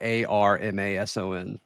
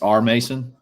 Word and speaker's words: R. Mason: So how do you say his name? It's not Mason. It's R. Mason. R. Mason Thomas. I thought his name was R. Mason, like ARMASON, but it's R space Mason.